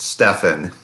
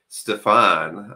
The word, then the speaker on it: Stephan: Since I did it, it's pronounced Stephan. Yes, I learned too late after saying Stefan, I think is what I was saying for two or three episodes when I was trying to tease this one, and Wes let me know what the proper pronunciation was.